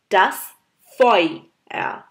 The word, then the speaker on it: das Feuer: আছে ইউ লেটারটা একসাথে ইউ ইউ যদি জার্মানে একসাথে হয় তাহলে আমাদের এটাকে প্রোনাউন্স করতে হয় অই সাউন্ডে যেমন das feuer das feuer das feuer das Feuer.